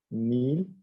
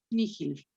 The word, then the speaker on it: nihil: Nihil. Nihil. Bien, está bien. Generalmente cuando una H la tienes entre doble I, Miguel, puede tener una pronunciación aspirada. Nihil.